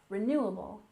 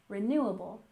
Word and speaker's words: renewable: we have renewable resources with a stress here on the second syllable renewable renewable and resources we stress